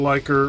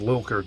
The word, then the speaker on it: Lilker: anthrax as the drummer dan liker or i can't i think it's actually pronounced lilker dan lilker from nuclear